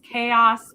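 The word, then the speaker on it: Chaol: how to say it it's chaos but with an l it's chao chao not prince he's not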